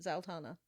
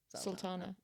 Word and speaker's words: Zara Sultana: Zultana. Sultana.